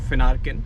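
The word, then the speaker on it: Finarkein: या सो फिनरन analytics it's pronounced फिनर केन सो फेन and arcane a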